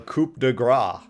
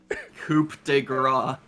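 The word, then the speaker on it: coup de grâce: Rob, I love how you pronounced this, the first part completely wrong, but the second part right. I know. Coup de grace. Coup de grace.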